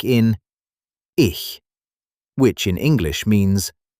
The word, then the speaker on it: ich: Another difficult sound is ch, like in ich, which in English means I. It is soft, not harsh, almost like air gently passing.